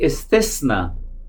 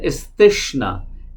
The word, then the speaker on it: इस्तिस्ना: Deuteronomy इस्तिस्ना, कुछ लोग इसे प्रोनाउंस करते हैं इस्तिश्ना, इस्तिश्ना नहीं है, इस्तिस्ना।